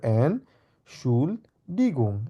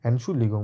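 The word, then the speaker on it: Entschuldigung: excuse me এন শুল্লিগং এভাবেই লিখবেন আমরা উচ্চারণ করবো এন সুগং এন সুলিগং মানে হচ্ছে এক্সকিউজ মি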